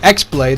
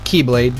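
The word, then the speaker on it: χ-blade: like clash against that they can reforge the x-blade I know it's pronounced Akai blade or Keyblade but you know for confusion purposes I'm going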